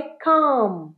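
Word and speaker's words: calm: এম এল উচ্চারণ হয় না উচ্চারণটা কি হবে কাম কাম উচ্চারণ কাম he look কামশি look কাম ইউ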